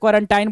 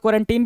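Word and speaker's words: quarantine: कुछ लोग क्वारंटीन भी बोलते हैं, कुछ लोग क्वारंटाइन बोलते हैं. तो यहीं से आप समझ जाएंगे कि भाई प्रोनाउंसिएशन का बहुत ज़्यादा दिक्कत नहीं है, दोनों सही है. क्वारंटाइन भी ठीक है, क्वारंटीन भी ठीक है.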